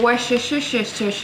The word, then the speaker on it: Worcestershire: And then some Worcestershire sauce.